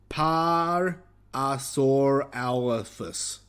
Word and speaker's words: Parasaurolophus: Thank you, Don, for actually giving me a pronunciation. Parasaurolophus. Parasaurolophus.